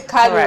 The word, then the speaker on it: Kalu: KALU, did I pronounce the name properly? KALU, right?